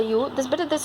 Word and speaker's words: ewe: The pronunciation of this bird is a U.